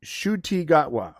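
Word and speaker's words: Ncuti Gatwa: the coming uh it's Shu gotwa okay that's actually thank you Michael I can't pronounce name that actually helps shwa shwa so the N is silent and so is the C I guess I gotta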